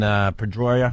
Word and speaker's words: Pedroia: Dustin Pedroia.